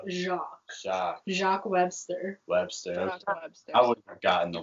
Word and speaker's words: Jacques: think it's jakey something it's spelled like that but it's jock jack jacques jacques webster webster forgotten